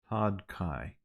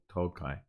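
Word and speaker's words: Todhchaí: Todd Kai. Oh no, it's DH Tokai. I wish Google had a pronunciation thing, but anyway, Tog, Todhchai fada. DH I think in Irish is kind of Tokai.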